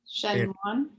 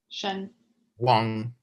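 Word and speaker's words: གཞན་དབང: Shen Wan. Yeah, say shen. Shen Wang. Wan. NG at the end. Wang.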